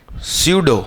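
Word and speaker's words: pseudo: स्यूडो। क्या उसकी spelling? P से शुरू होती है।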